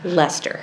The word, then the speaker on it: Leicester: everybody goes how do you say that again Leicester and and I said and if you haven't